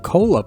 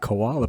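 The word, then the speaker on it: Kola: be moving on to the koala or cola peninsula all this time i've been pronouncing it koala peninsula so hopefully we'll move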